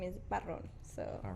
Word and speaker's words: Barron: and my last name is Barron. So All wrong. you gotta Okay. roll the R.